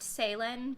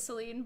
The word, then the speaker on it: Céline: Or technically they're pronounced Céline, but I feel like the American way of pronouncing it is Celine.